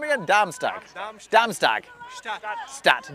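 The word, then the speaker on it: Darmstadt: Damstag. Damstagat. Stat. Damstat.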